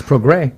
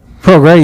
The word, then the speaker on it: Prograis: It's spelled with an S. It's Prograis. Prograis, yeah. So that S will get you, too.